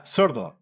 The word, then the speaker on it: sordo: Yeah, sordo. How do I spell it, though?